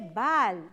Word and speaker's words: ball: Dice así, la vocal A suena como una O, pero ¿cuándo suena como una O? Cuando va seguida de la doble L, de las dos L juntas. Como por ejemplo, en inglés escribimos ball, se escribe ball, pero su sonido es O, es ball.